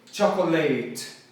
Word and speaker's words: chocolate: Então, a sílaba tônica é o cha. E aí eu falo chocolate, let, chocolate, chocolate. Assim, com o cho na ênfase.